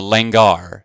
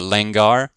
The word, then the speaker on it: langar: fellowship with one another it's called the langar and it's spelled just how it sounds l-a-n-g-a-r okay the lengar very important ritual meal